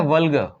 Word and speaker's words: vulgar: इसकी जो प्रोनाउंसिएशन जो दी गई है वह है वल्गर। इस तरीके का एक स्ट्रक्चर देख रहे होंगे आप, और स्पेलिंग लिखी गई है VULGAR, वल्गर। इस आर का उच्चारण नहीं है, तो आर का उच्चारण यहां नहीं होता।